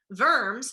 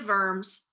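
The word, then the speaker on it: Worms: of verbs remember that the w is pronounced like a v verms is a city in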